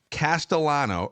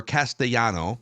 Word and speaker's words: Castellano: selected right-handed pitcher ibberson Castellano or Castellano depending on uh if we're pronouncing the double L's in American fashion um from the Philadelphia